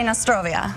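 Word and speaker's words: na zdrowie: okay how do you say cheers we say Nostrovia Nostrovia so FAS Nostrovia now if somebody's interested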